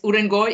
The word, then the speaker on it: Urengoy: Urengoy? I don't know how to say it. Yes, Urengoy in Western Siberia.